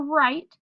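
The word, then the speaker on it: write: So when the consonants W and R show up together, it does not say w-er, it just says the R card which says So, for example, in the word right, the first two letters are W-R. The W is silent.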